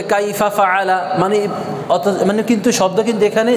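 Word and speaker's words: فعل: তারা তারা কাইফা কাইফা ফা আ লা একসাথে ফাআলা ফাআলা আবার বলেন ফাআলা আইনের উচ্চারণটা হচ্ছে হলকের মধ্যখান এই যে গলার মধ্যখানে একটু প্রেসার দিতে হবে আ আ আ ফাআ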